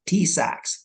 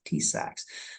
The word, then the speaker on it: TISAX: yes that's correct it's it's pronounced tsacs tsacs next please so TSX